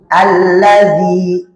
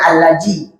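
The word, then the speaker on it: الَّذِي: dza dzi ah dzi Alladzi allazzi na dzi ya jangan allazji jangan allazaji jangan allazzi tapi alladzi dzi dzi 1 2 3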